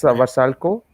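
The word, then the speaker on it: Vrsaljko: good you can't really expect that much uh versalio is vasalco how is that that's how you pronounce it yeah so so yeah i think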